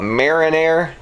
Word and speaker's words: Marinaire: even pronouncing it right i always call it marinare it's m-a-r-i-n-a-i-r-e i think so it's a little